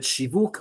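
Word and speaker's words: שיווק: verbal noun of it, shivuk, marketing. Why is it shivuk? Because we want to indicate that that middle sound, instead of being pronounced just as U, is actually pronounced its full name, Vav.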